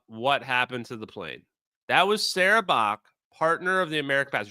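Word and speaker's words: Bajc: Sarah Bach, B-A-J-C. I'm going to pronounce it Bach until I hear a better pronunciation.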